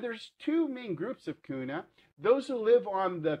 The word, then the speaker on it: Guna: k and now it's kuna with the g but it's all pronounced the same quite frankly i think